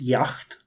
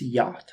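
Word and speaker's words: yacht: Y yach club actually I always think it's pronounced Yak but it's yach if I'm not mistaken and Korea wants a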